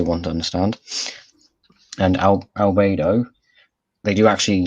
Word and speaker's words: Albedo: it should be albedo but i'm sure they mispronounce it from time to time yeah so yes uh albedo who is um i got one a galvan